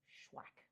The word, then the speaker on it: SHUAC: I always want to say accepted which is also true and connected and those things spellwack and it's pronounced schwack like have you shacked someone today or has someone you